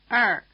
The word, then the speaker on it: 二: You can hear something very like Chinese ER in the proverb, to err is human. Try repeating after the speaker. 二 In addition to syllables